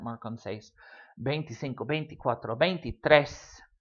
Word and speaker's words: seis: The 16 has an accent mark on the E in seis. Seis itself does not have an accent mark. Seis. One syllable word doesn't need an accent.